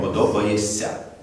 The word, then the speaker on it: подобаєшся: сказав так і зробив коли ми пишемо подобаєшся але ми вимовляємо подобаєся так робиться робиться на